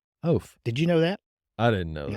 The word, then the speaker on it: Eoff: So the next string that's just seems that I want to pull on is how do you pronounce a last name Eoff? you pronounce that last name Oaf.